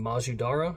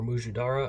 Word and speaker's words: mujadara: What we're going to be doing is making Majadara or Mujadara. I've heard it pronounced both ways. My friend who taught it to me called it Majadara, but I think the more traditional might be Muj.